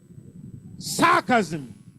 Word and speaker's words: sarcasm: Sarcasm. Say sarcasm. First syllable.